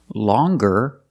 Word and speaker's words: longer: like singer and hanger in both of these words the G is not pronounced with a hard G sound we don't say singer and we don't say hanger we say singer and hanger but if you look at these two words longer and younger we do pronounce the G sound longer and younger he's